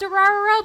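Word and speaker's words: Durarara!!: Well, it's called Durarara, but it's spelled just D-R.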